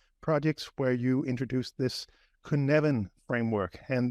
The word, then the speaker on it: Cynefin: this kuneven framework and the reason I'm trying to pronounce it that way is because I've only known it on text for for so long and the way you write it is not how I would expect you to pronounce it and I think it's because it's a a Welsh word um so but but